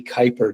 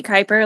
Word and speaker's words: Kuyper: And our guest today is Maggie Kuyper. Did I pronounce that correctly?